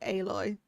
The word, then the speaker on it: Aloy: I called it Alloy for ages, but then I heard them call her name and they say it like Aloy.